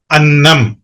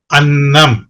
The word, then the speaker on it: அன்னம்: Sound பாருங்க நான் உச்சரிக்கிறேன் அன்னம் அன்னம் அண்ணன் அண்ணன் ரெண்டுக்கும் வித்தியாசம் இருக்கு. அந்த அண்ணன் சொல்லும்போதே அது கனமா இருக்கும் அந்த சத்தம் அன்னம் சொல்லும்போது அது ரொம்ப மெல்லிசா இருக்கும் எப்படி அந்த உச்சரிப்பு டிஃபரன்ஸ்